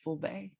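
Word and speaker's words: Fulbe: are called fulani or in their language it's pronounced fullbay and so they um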